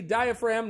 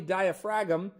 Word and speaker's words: diaphragm: So, it's the diaphragm, not the diaphragum, despite the fact that it clearly appears to spell diaphragm.